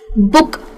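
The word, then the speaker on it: book: यानी कि छोटा उ बुक। अब बुक में स्पेलिंग में डबल डबल ओ है। लेकिन बोलते इसको छोटे ऊ के साथ है।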